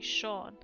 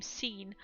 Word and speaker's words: Sean: it's spelled like that, so people actually say Sean. But some people have actually said his name Scene, which is kind of funny. Sean pronounced Scene.